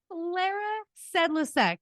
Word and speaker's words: Klara Sedlacek: And welcome to Miss Klara Sedlacek.